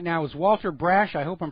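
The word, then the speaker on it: Walter Brasch: And joining us on the phone right now is Walter Brash. I hope I'm pronouncing that correctly.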